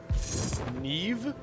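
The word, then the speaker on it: Niamh: Neve? That's how you pronounce that? Gaelic, man. I promise you that's Gaelic. How do you do?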